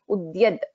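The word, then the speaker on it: उद्यद्: So we cannot skip the in this and say uyad. So it has to be ud, that the also has to be heard. Udyad.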